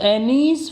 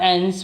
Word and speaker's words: Anne: So Annie's father, Otto Frank, or Anne's father, Annie and Anne both can be pronounced.